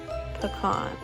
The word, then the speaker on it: pecan: I'm also pretty sure this is the section where I'm asking if you say peon or pecan. And I definitely say pecan, which is the correct way to say it, if I do say so myself.